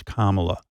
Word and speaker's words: Kamala: mispronouncing your name they they act as if they can't say comma it's not that complicated it's what what's going on what what really is going on there when they can't pronounce Kamala is it supposed to